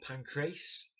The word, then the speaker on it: Pancrase: well about my pronunciation I know it's about Pancrase but it's actually pronounced Pancras the Greek sport was Pancrazio not